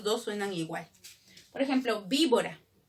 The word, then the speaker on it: víbora: Víbora, la primera con que se escribe, con V, ¿no es cierto? Pero ¿cómo suena? Víbora. ¿Hay alguna diferencia entre la primera con V y la segunda con B? En el sonido no.